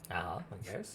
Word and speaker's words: Hox: It's Hox. Yes, and H-O-X.